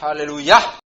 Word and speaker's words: aleluya: En hebreo es aleluya con el acento en la a final.